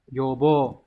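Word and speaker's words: 予防: Đọc là yobo.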